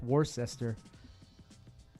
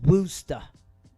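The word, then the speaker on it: Worcester: mad at you it's it's spelled war sester and then by Boston it's not was it it's wer wer I was like damn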